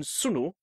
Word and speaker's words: sunu: double or long thus whilst n in sunu is pronounced as in money the NN in the